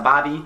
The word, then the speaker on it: barbie: This one should probably have been higher up on the list, but that is a bobby. Spelled like Barbie, but not barbecue. Barbie.